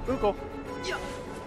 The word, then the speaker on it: Moogle: Moggle. I don't know what. Is that Moo or Mog? That might have been saying it wrong for the last 20 years. Moogle. Yep, it's Moogle.